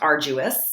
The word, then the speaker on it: arduous: then we move into arduous sounds kind of like there's a g or a J in the middle of the word even though it's spelled